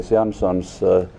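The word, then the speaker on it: Jansons: able to pronounce andrees Sanson s or s yes yes you'll have to spell this one yes uh my name is yanson J A NS o NS um I operate a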